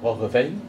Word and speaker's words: Roggeveen: ou Roggeveen, ou Roggeveen, ça dépend comment on le prononce. Si c'est en néerlandais, c'est Roggeveen, qui découvre l'île de Pâques